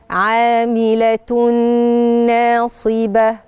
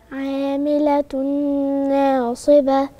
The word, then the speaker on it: عاملة ناصبة: أنا عندي هنا تنوين مضموم على التاء المربوطة ورايا نون، والتنوين ده نون بنطقها هي نون زائدة بتتنطق باللفظ، مش مكتوبة نون، لكن التنوين عادة تن تن تن، احنا بننطق ايه؟ نون. فأنا دلوقتي ورايا نون، هنضغم الاتنين في بعض وهيبقى صوت الغنة واضح عشان يبين ان هنا فيه إضغام. فهنقول عاملة ناصبة.